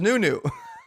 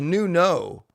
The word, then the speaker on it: Nunu: His name is pronounced as Nunu. The Streamlabs bot's funny. I can't, it's not, But yeah, guys, I thought it was Nuno. I thought it was Nuno, like Uno, because Uno's UNO.